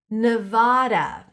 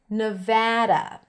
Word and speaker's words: Nevada: Nevada or Nevada. Both are okay. Remember what I said? Sometimes when the A is in the spelling, it might be pronounced with an A sound and sometimes with an A sound. A. So, ne, I pronounce it with a schwa. You can also hear it with an E sound, ne. Just pronounce the schwa, it's easier.